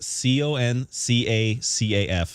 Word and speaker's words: CONCACAF: how you pronounce con i think it's concaf concacaf that sounds like conch shell what are you doing it is c-o-n-c-a-c-a-f but it's soccer they don't pronounce anything the right way they call it